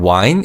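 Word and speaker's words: 와인: And wine is said phonetically in Korean. So it's wine.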